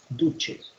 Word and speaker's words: duce: En italiano la C se pronuncia como che, duce.